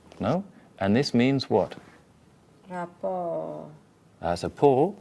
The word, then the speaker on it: rapport: The S isn't making any difference here. Why is that? This is because it's a French word, and French, you would only hear the T and the S if it was the feminine, which would be written like that.